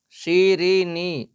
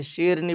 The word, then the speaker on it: شیرینی: رے زبر را، بھٹیارا۔ شیرینی، یہاں پر بچے غلطی کرتے ہیں، سیدھی شیرنی پڑھتے ہیں، تلفظ صحیح کروائیں معلم صاحب تاکہ املا لکھنے میں بھی آئندہ سہولت رہے۔ شیرینی، شین یا زیر